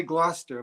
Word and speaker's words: Gloucester: Ooh, you got to say Gloucester, like Foster.